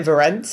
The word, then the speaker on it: Verence: But I'm saying Verence because it rhymes with Terence. Yeah, that's but they say Verence. It's really just a different kind of way of stressing the syllables.